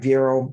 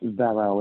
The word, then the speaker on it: Vero: Is it like Vero, meaning rhyming with hero, Jazzy, or different? It's Vero. It's after my grandmother, Veronica. So it's Vero's Hands. We call it Vero.